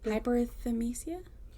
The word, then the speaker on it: hyperthymesia: Hyperthymesia. Hyperthymesia.